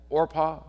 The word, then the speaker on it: Orpah: and her uh sister-in-law orpah i guess is how you pronounce that oprah fix it made it different but um so anyway